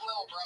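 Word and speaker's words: Lil Brough: He spells bro with 3 silent letters at the end.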